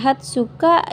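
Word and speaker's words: 二十日: Eh, ini dibacanya juyoka. Ini hatsuka, ini nijuyoka. Jadi, tidak memakai ni ci ya, minasan.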